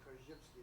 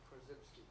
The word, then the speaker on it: Korzybski: or an authentic way you pronounce it kski is that how he pronounced it yeah that's a Polish pronunciation because everybody I have ever heard has always said ksky that's acceptable yeah know but I'm